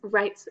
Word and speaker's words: Wright's: Miss Wright's Job. Do you see the silent letter? The W.